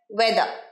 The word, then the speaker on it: weather: ওয়েদার, আরেকবার ওয়েদার, রটা কিন্তু উচ্চারণ হবে না, ওয়েদার।